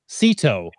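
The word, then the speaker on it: CITO: cash in trash out that's Seto is how its properly pronounced don't listen to anyone else it's Seto those souvenir moments will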